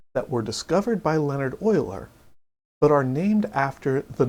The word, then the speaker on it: Euler: In this video, I want to introduce you to Oilers's formula. And yes, that name is pronounced Oiler despite how it may look.